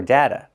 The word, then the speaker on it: data: We say data or data. You can use the long A sound like day and say data or you can use the short A sound like black cat and say data.